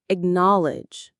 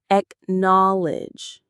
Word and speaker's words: acknowledge: A slightly softer, more neutral version of this is the word acknowledge. Let's practice the pronunciation. It has three syllables. Acknowledge. Acknowledge. The stress is on the middle syllable.